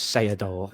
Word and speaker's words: Seedorf: We can have a little bit of adjudication of how you pronounce that surname. Clarence Seedorf.